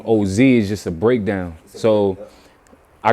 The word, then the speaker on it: Ohzhe: So instead of spelling it Ohzy, I spelled it Ohzhe to give it a nice little breakdown on how to say the name.